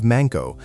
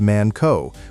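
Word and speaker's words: まんこ: Japanese speaker as the highly offensive manko, pronounced man co with a hard K and a clipped O sound.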